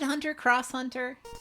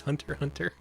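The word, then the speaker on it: Hunter × Hunter: boys in the basement hunter hunter you don't pronounce it okay it's just hunter hunter well now i know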